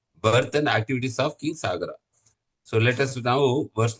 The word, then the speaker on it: Sagara: No, Dirgham, Prabhu. Only Sagara. Only single A.